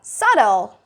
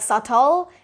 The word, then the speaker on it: subtle: Next word we got, subtle. Subtle. So it's not subtle or like subtle. It's subtle. That B is silent and your T sound is like a glottal stop.